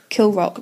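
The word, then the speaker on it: Kilravock: baron of kill rock now i'm going to check my pronunciation kill the rock it's a bit spicier for you i said it right oh it's all right kill rock but it's spelled k-i-l-r-a-v-o-c-k now kieran you will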